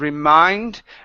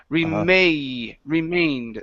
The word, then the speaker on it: remained: down below okay yeah give me a long a there so it's instead of REM remained the rest of our